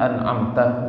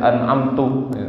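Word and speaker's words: أنعمت: Ya, terutama bagaimana jangan sampai keliru ketika mengucapkan huruf-huruf misalkan sirathalladzina an'amta begitu ya. Kemudian ada orang sirathalladzina dibaca an'amtu bahaya bisa berpengaruh kepada makna bisa batal salatnya.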